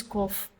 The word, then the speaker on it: cough: So these two words here, they are pronounced differently. One is cough, another one is enough.